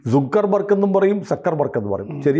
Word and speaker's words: Zuckerberg: ഇസഡ് ഡ്യൂ ആണ് അല്ലേ സക്കർബർഗ്ഗനെ സുക്കർബർഗ് എന്നും പറയും സക്കർബർഗ് എന്ന് പറയും ശരിയായ ഉച്ചാരണം ഏതാണ് സക്കർബർഗ് എന്നാണ് സൂ അല്ല അപ്പൊ ഞാനും തിരുത്താം ഹനുമാൻ